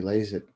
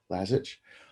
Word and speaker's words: Lazich: So I invited Lazich, that's how I should pronounce it, Lazich, to my show today.